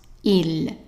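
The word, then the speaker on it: ils: So they is basically just he with an S. And the S is silent. And as usual, I underline the S so you know that it's not pronounced. So pronunciation, it's the same. Whether you say he or they are pronounced il, il.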